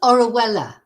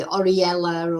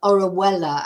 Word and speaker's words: Orihuela: maybe about a they can't pronounce it it's orella orella it's pronounced but uh you know people have a